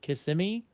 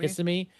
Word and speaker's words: Kissimmee: we're within like a shot because we're staying in Kissimmee, I guess is what it's called. I thought it was Kissimmee? Kissimmee, but it's from how Kissimmee?